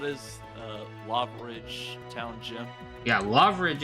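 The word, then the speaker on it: Lavaridge: Yeah, Loveridge is what we're looking for, not Larveridge. I heard an extra R there.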